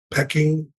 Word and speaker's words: Peking: back to China to, I pronounced it wrong. It's Peking University. Peking.